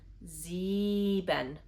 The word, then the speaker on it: sieben: For example, the part where the combination of the letters I and E makes the sound E. For example, sieben.